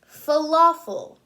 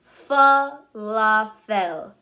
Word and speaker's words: falafel: Falafel.